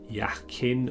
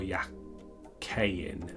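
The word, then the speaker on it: Jachin: j on them uh this stands for uh boaz or baz and jacquin or yakayin uh depending on your hebrew pronunciation and mine's not brilliant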